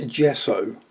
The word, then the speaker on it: gesso: Some clear gesso. Yes, it's pronounced J, but it's spelled G.